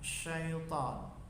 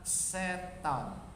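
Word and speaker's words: شيطان: Jadi mengucapkan syaitan itu menggunakan huruf sya, syaitan, bukan setan, bukan sin tapi sya.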